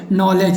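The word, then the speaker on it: knowledge: ऐसे नॉलेज में भी आप देखिएगा तो लास्ट में KNOWLE, इसके जस्ट बाद डी और जी आया, तो डी जो है जी के पहले आया, इसलिए यहाँ पर डी को क्या किया गया है? साइलेंट, इसीलिए इसको पढ़ेंगे नॉलेज।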